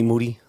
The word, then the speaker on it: Moody: Then we had a straight fire episode with me and G Moody. Last name rhymes with duty.